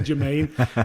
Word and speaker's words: Germain: It was actually spelled German, but the Jordan Award, he changed the pronunciation to Jermaine, which is funny now.